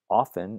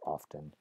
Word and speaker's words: often: as something like rest'll often is another case where that T is written but not pronounced well actually it's sometimes pronounced and you might be one of those people who says often with a T but that's another example of a spelling pronunciation right that T was actually dropped hundreds of years ago